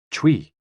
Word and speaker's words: chui: associated with the lungs Chui pronounced like Chui with a forceful exhale which is also associated